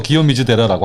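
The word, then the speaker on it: 清水寺: 네, 지금은 공사 끝나서 멋진 청수사를 이제 일본 발음으로 기요미즈데라라고 하거든요.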